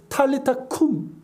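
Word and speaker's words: talitha koum: 그러면서 예수님께서 달리타쿰, 그러니까 우리 성경엔 달리다쿰이라고 되어 있어요. 아람어인데 탈리타쿰, 소녀야 일어나라는 뜻입니다.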